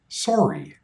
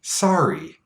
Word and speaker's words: sorry: The standard Canadian pronunciation is sorry, a strong O sound. But in the area where I grew up, we said sorry, a more relaxed sound. The lips don't round as much, sorry. And there are a few